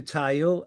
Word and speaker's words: Tao: Um, I'm just saying hi to Tao. Uh, that's how her name is pronounced.